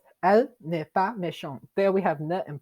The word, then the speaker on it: méchante: And we pronounce the T in méchante to show that it's feminine.